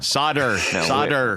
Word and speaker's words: solder: thank you silent L it's a silent L solder we know what's we